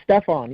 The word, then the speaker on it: Stephanie: Yeah, it's Stefan, yes. Stefan, pardon me. It's okay, it's spelled Stephanie. Yeah, it's a French thing. That's how it's spelled in French.